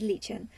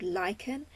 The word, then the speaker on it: lichen: I was creating him I didn't actually know that it was pronounced like him so I was like calling it Legion so my OC became Legion even though it's spelt exactly the same way as lichen that for